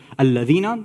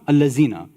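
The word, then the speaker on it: الذين: So instead of alladhina, allazina. Instead of kawthar, they say kawsar, right?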